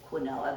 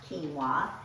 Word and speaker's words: quinoa: when i first learned about quinoa i said quinoa how many of you have wondered how do you say that word and it's not wrong to say quinoa but it's generally pronounced quinoa and here's what quinoa looks like in the